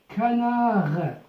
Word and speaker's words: canard: Un canard, Le D ne se prononce pas à la fin.